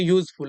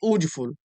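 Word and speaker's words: useful: इसकी प्रोनाउंसिएशन होगी यूजफुल, ना कि ऊजफुल।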